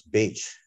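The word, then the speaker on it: Bache: technology um Alexander Dallas Dallas Beach or Bach depending on how you like to pronounce it he was the head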